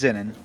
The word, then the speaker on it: Zenin: Or, wait, how do you say your name? No, it's right. You're right. It's Zenin.